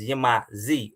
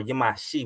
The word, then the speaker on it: Yamasee: But you know, we acknowledge our bloodline through properly pronouncing it as Yamasee or Yamashi with that XI.